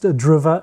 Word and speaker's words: Driva: That's why it's pronounced DRIVA and not driver as many think, but I'm cool with driver as well.